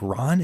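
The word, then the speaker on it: Rohn: And I believe it's Jim, like Ron is how you say the name.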